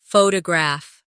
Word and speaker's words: photograph: Now photograph. The stress is on the first syllable.